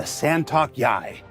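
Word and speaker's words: Santok.yāi: latest Xi'an Fighter the santok Yai santok yai the scent it's it's pronounced just like it's spelled but because we just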